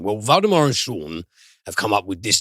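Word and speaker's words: Sjón: uh voldemort johansson and co-written by him and shawn which is uh the name of an icelandic screenwriter and author it's spelled s-g-a-o-n but it's pronounced shawn okay so and it just feels a bit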